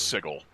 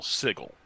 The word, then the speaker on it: Sigil: one because he says he pronounced sigil Sigel because he was thinking of the city and that's just how he thought it was pronounced hmm it's an interesting